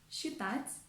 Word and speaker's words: считать: For example, the consonants s and ch standing together are often pronounced as sh. For example, расческа, расческа, считать, считать, and счастье, счастье.